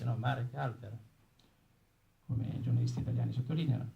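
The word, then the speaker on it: Marek Halter: Bene, c'è una introduzione anche nel libro di Marek Alter, che viene pronunciato alla francese, no? Marek Alter, come i giornalisti italiani sottolineano, e c'è un'introduzione anche per le edizioni italiane.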